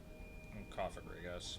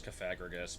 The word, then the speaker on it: Cofagrigus: and cagus cagus what cofagrigus I I thought it was coffagrigus before I realized what word it was based off of yeah I'd still pronounce it like that anyway but I mean